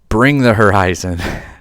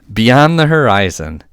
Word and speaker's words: Beyond the Horizon: I mispronounced it and kept saying, Bring the Horizon. Beyond the Horizon, the 7 cost uninkable song.